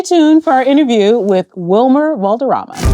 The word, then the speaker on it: Wilmer: When you first When you first joined the show, uh, David McCallum called you Vilmer with a V Vilma for like 3 years.